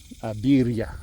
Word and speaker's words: birria: Okay, so we had some birria. I don't know how to pronounce that. Birria, it's 2 R's in Spanish.